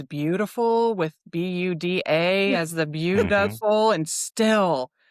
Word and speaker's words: Buda: Yeah, thanks for coming and learning more about Buda.